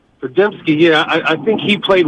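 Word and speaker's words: Podziemski: Pajemski, yeah.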